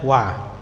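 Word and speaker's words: و: secara terjemahan apa dan ya bacanya alwau itu bacanya wa ya artinya dan Nah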